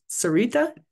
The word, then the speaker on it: Sarita: Oh, or Sarita, did I pronounce that right? Yes, you did. Hi, this is Sarita.